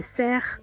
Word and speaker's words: cerf: Après, il y a les biches, les cerfs. Là-bas, ils disent pas cerf, ils disent cerf. Ils prononcent le F.